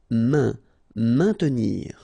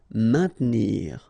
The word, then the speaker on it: maintenir: Maintenir, so remember A, I, N together will produce the sound un, maintenir, don't insist on the E, maintenir.